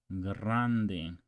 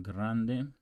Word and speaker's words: grande: as a game G Grande actually roll that r on Grande Grande okay so let's go